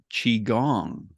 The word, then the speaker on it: Qigong: it starts with the letter q and it's pronounced chiong and I'm here with an expert on this particular practice he's a master of this Ancient Art of chiong I'm here today with Lee Holden Lee are